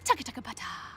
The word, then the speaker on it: TCTHTBT: Capital T, hashtag TBT, throwback today, or for short, TCTHTBT, bracket TBT, pronounced taka-taka-pata.